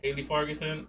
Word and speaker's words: Haley Fargason: This is the beautiful Haley Fargason. I didn't say your name wrong, right?